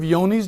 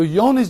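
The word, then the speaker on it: Johne's: years he says have you ever heard of yoni's disease this is on the phone's call cell and i say what's yoni's disease i said how do you spell that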